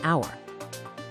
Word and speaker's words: hour: Solving the case of the silent H in hour, the H is silent.